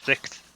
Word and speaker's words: Sikth: So do you guys know Sixth at all? Yep. I know of it. TH. Yeah. SIKTH. Yeah, they had. Oh, okay. I always just like pronounce it UK I6. Yeah, there's so Sixth.